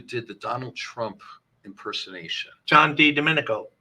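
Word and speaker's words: John Di Domenico: the person who did the Donald Trump impersonation John D Dominico John D Dominico that's right that's how your pronounce it if you go back over that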